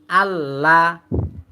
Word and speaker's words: আল্লাহ: আল লাম জবার লা আল্লাহ আল্লাহ আল আল্লাহ শব্দের লাম মোটা হয় কিন্তু স্বাভাবিক যে লাম